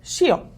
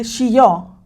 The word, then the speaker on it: shio: Pues resulta que sal en japonés se dice shio. Okay, te lo voy a poner aquí shio. Pero si la llegas a pronunciar mal, así tantito y decir shió, eso significa muere.